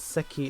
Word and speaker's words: 赤: Aka can be read as seki as well. Yes. Because Akai is the Japanese pronunciation. But when you make a kanji composition, when you make a kanji combo, as some of my viewers, because we're all gamers, said, the Akai becomes Seki.